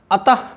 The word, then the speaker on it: अतः: इन दोनों की विसर्ग और ह की ध्वनियाँ एक नहीं हैं। हमको फिर एक बार देखिए हमको किस तरह से उच्चारण करना चाहिए। प्रातः, प्रायः, अतः, हरिः, गुरुः, शनैः, स्वतः,